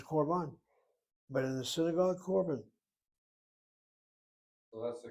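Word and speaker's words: קָרְבָּן: In class, it was korban, but in the synagogue, korban. So that's the correct karaban. Is the correct pronunciation if you're doing Sephardic?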